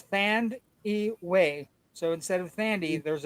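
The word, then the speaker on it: Thandiwe: Um, Newton by the way has a new way to say her name by the way. Um, it used to be Thandy, but there is a wei in it now at the end. So it's Thand Way.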